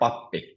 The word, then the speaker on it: pappi: Or pappi, which means priest, pappi. So it's always on the first syllable.